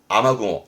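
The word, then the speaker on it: 雨雲: 발음은 조심하세요. 아마구모. 이때 발음도 앞에 게 아마입니다.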